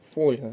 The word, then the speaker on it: фольга: склад не підходить варіант фольга наголос на перший склад запам'ятовуємо це дуже важливі